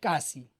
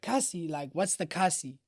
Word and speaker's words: Kasi: Kasi, right? Like it's spelled K A Si, you know? And you're like, "Casy like what is that?"